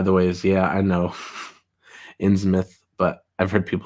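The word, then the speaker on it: Innsmouth: all time it's a good novel uh it's pronounced in smith by the way yeah i know in smith but i've heard people say inn's mouth i've said in his mouth before um frankenstein greater than dracula's gigantic android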